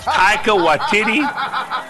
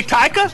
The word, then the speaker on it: Taika: bad guy uncomfortably again oh god tycho i mean are you sure how could he be anything else but an actor are you sure you're pronounced i held back i held back that's exactly how you pronounce it don't think i didn't look that up oh so you saying i don't understand how to say taika is that what you're saying it's tiger is that the part you're